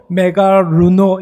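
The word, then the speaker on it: μεγαλύνω: 여러분, 오늘 본문에 나오는 이 존귀케 하다라는 말은 헬라어로 메가루노 이렇게 발음을 합니다.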